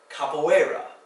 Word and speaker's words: capoeira: But then, because Portuguese is sometimes spelled strangely like this, you occasionally have an EI for the A sound. Capoeira.